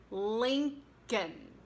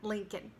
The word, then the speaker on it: Lincoln: First of all, it's one of those words that does not pronounce the L in the final syllable, so it's like kn, and the stress goes on link, so it's Abraham Lincoln.